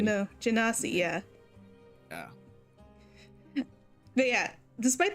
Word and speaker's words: Genasi: up, at this oh, I forgot how to pronounce it. My brain is saying like, oh, he's a goalie. I'm like, Genasi. no, Genasi, yeah.